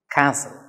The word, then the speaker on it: castle: to pronounce the word castle here t is silent so you have to pronounce this word as castle right okay what is